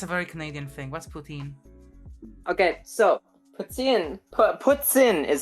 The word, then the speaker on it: poutine: very Canadian thing what's poutine okay so ptin PS is how it's actually pronounced okay poutine is how it's pronounced in English which is fine um but traditionally it's puts in but so basically you